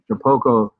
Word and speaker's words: Shapeoko: Shapico? How do you say that? Shapoco? Shapoco.